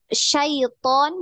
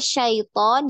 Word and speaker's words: syaiton: itu tadi slave ya kebanyakan itu di sayiton ya harusnya syaiton jadi syaiton banyak yang seperti itu Nah itu tidak boleh